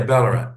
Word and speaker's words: Ballarat: Did I pronounce that properly? Yeah, Ballarat.